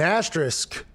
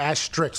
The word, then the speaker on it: asterisk: say it again yeah an asterisk a ash strix is how i've always caught it and then whenever i said i did an entire rant on game day and then reese afterwards said it right like five times straight because i think he was trying to teach me how to say it and i was sitting and he was right and i was not you know and by